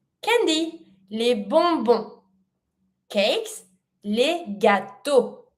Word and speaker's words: gâteaux: Cakes, les gâteaux. Do not pronounce the X. The X is the letter of the plural.